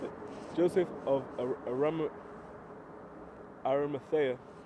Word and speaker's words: Arimathea: There's brothers that will think about Joseph of Arimathea. Shout out Brother Henry, because he taught me how to pronounce that. Joseph of I just said it. I literally said it. Joseph of Arimathea, right?